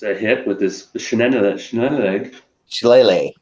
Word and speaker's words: Shillelagh: Shillelagh. Shillelagh. Yeah, it's hard to pronounce. Look at it, it's like, how the hell do you pronounce that?